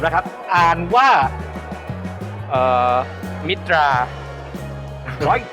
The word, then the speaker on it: MITTA: ชื่อ บริษัท ผม นะ ครับ อ่าน ว่า เอ่อ มิตรา ขอ อีก ที ขอ แน่น ๆ เน้น ๆ